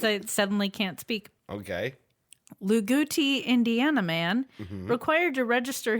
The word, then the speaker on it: Loogootee: Luguti, Indiana man, required to register his vehicle, a Radio Flyer wagon pulled by his 2 German shepherds named Radio and Flyer.